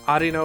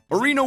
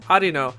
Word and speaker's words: Arino: we talked about in the ds game arino was pronounced areno arena arena arena burrito arena yeah it's